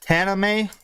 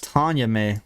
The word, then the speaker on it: Taname: Wait, is that how you pronounce it? Tana May? Yeah. Really? I thought it's Tanya May. My God. No, there's no Y there, team.